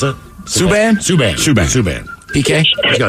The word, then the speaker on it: Subban: Or is it Saban? Last name, how do you pronounce it? Subban? Subban.